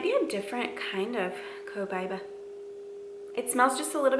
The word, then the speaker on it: Copaiba: And then Copaiba, people pronounce this different all the time. Copaiba, Copaiba, Copaiba. I think I say Copaiba the most, but anyway, you want to say it.